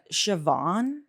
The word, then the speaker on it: Siobhan: scen King Kingston um shoban the way that's spelled in my head I seon C it's a c one Siobhan is like doesn't it's not spelled the way it's supposed to be spelled that's more rare than